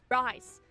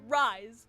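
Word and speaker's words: Rhys: Anyways, rise. Gosh dang it, Keki. His name is Rise. Okay, side tangent, but Jessica, if you are for some reason watching this by some miracle, why is it pronounced Rise when it is so clearly spelled Reese?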